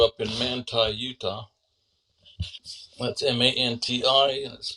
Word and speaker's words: Manti: in man Utah that's M an t it's pronounced Manti not Mante though I met a